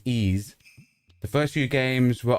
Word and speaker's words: Ys: It's called Wise and it's pronounced Ease. Okay. So, it's pronounced Ease.